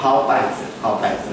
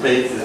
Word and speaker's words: 稗子: 字了哈，所以那个字我们念好拜子哈，要不然会变成鲁杯子哈，那个拜也念成杯哈。